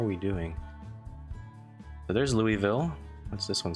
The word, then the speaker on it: Louisville: if the worst comes to the worst it's pronounced Louisville okay I haven't been pronouncing it all wrong